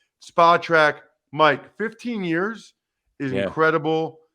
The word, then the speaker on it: Spotrac: starting out you know I always call it Spa track but for some reason I thought in my head I'm wrong it's spell track he told me last time it's spelled track so spot Track Mike 15 years is